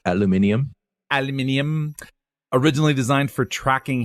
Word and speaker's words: aluminium: And also, I believe it's pronounced aluminium.